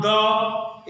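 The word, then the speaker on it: the: देखिए द का उच्चारण कहीं द होता है और कहीं कहीं दी होता है।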